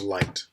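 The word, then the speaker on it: Licht: is the Li is it's spelled li CH T and it's pronounced light so now that we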